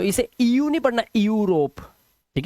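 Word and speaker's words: Europe: यहां पर इयू तो इसे इयू नहीं पढ़ना यूरोप ठीक है इसे पढ़ना है यूरोप क्या पढ़ना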